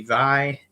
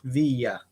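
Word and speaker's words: Viy: Some people pronounce this movie Vi. Some people pronounce it V. But in the movie, they clearly say Via.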